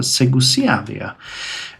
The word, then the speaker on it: Segusiavia: Eravicia and Segusiavia, yes, I always mispronounce it, Segusiavia, are now at 200, so we can actually start their integration.